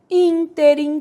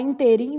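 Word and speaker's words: ínterim: tônica proparoxítona última única interim que o povo tem mania de falar interim né interim interim nesse meio tempo na passagem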